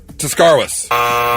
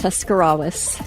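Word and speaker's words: Tuscarawas: That's do it Tuscarwas. close. Oh, God, you're so close. Tuscarwas. Close. Tuscarawis. Tuscarawis. Tuscarawis. Yes. Tuscarawis.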